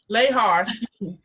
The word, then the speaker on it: Lahar: i don't care but lahar is how we pronounce it how are you today